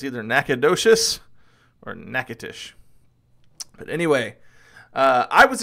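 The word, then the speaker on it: Natchitoches: exactly the same in Louisiana and it's called nacatish so just depends on depends on whether you're talking Texas or Louisiana it's either nacadas or nacatish but anyway uh I was expecting this to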